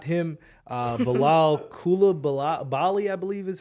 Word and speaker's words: Coulibaly: My team drafted Victor Wembanyama's teammate, not him, Bilal Coulibaly, I believe is how you pronounce his last name.